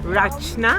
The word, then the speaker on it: Rachna: Rachna.